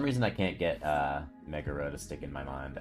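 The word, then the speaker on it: Megara: right for some reason i can't get uh mega ro to stick in my mind as being the correct way to pronounce it it's just magara just sounds right to me i don't know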